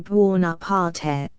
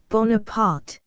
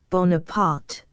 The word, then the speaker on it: Bonaparte: She gives the name a marked Italian pronunciation, Buonaparte. Napoleon, angrily, with the French pronunciation. Bonaparte, madam, Bonaparte.